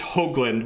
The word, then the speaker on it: Hoagland: So someone was commenting, it's Hoagland with a long O sound. So not pronounced phonetically how it's spelled.